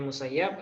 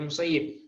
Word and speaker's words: Musayyib: Ya ada yang bacanya musayyab ada yang bacanya musayyib misalnya dia berkata misalnya